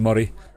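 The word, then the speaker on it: Moray: 14 year old from glen murray um or murray as it's spelled but um that's up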